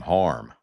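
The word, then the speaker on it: Hiram: Born on this date in 1923, country music singer songwriter Hyram Williams of Mount Olive. Kin folks back then pronounced his name harm.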